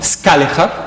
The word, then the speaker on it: Scaliger: Therefore, they invited the famous French scholar, Scaliger, as we pronounce it in Dutch nowadays.